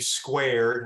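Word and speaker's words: SCWAReD: projects you mentioned uh we pronounce that s-c-w-a-r-e-d squared i don't know if that's acted or not but that's how we do it um the digital library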